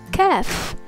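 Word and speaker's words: ك: The letter Kaf. Repeat with me, Ka. It's pronounced like the English Ka as in kip.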